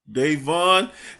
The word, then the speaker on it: Davon: He goes by Davon. Did I say it right? Yes. Davon.